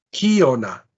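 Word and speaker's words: κίονα: El acento agudo es el único que puede existir en antepenúltima posición y puede estar ahí a condición de que la última sílaba sea breve. Y la verdad es que la última sílaba es breve, entonces yo tengo acá kiona.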